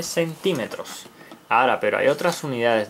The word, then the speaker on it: centímetro: Esta línea mide 7 centímetros. Ahora, pero hay otras unidades de medida. Está el centímetro. Centímetro. Centímetro con acento en la I.